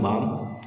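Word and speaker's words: वं: इसमें जो है स्वादिष्टान चक्र का बीज मंत्र जिसको बोलते हैं हम बाम, बा पे अंकी बिंदी, ओम बाम ओम, इस तरीके से बीज मंत्र का उच्चारण करके भी ये मुद्रा कर सकते हैं।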